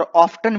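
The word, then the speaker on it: often: दोस्तों, इसे ऑफन भी पढ़ा जाता है और ऑफ्टन भी पढ़ा जाता है। डिक्शनरी में दोनों ही प्रोनाउंसिएशन है।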